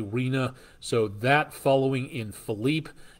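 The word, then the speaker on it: Rina: the rname storm or Reena or rhina depending how you pronounce that but I believe uh that again r i n a Reena so that following in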